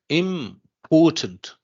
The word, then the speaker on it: important: okay so dear students what about important there syllable is it m or ort or Port oh no ort ort you so Port you can say Port okay so important port here is the syllable so is it